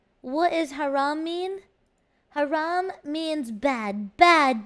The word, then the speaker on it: Haram: what is haram mean Haram means bad bad bad bad no it means very bad and naughty Haram but you say it like this Haram that's how you say it and then and